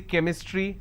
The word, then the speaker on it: chemistry: sound for example change but when I have the word chemistry CH becomes Cur sound so I say chemistry I say Chrome so